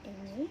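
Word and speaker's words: eñe: Nah itu enye, dibacanya enye.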